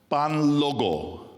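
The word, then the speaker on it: Kpanlogo: Pan logo. Pan logo. Let me really confuse you by spelling it. It's spelled capital K. Right. Right. P A N L O G O. The K obviously is silent.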